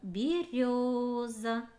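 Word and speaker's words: берёза: Слово береза. Нужно ли ставить значок ударения на букву Ё? Нет. Буква Ё и так показывает, что она ударная этими своими двумя точками.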